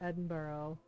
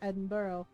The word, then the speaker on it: Edinburgh: here um I still remember the argument about Edinburgh like yeah it was like Jay and Ty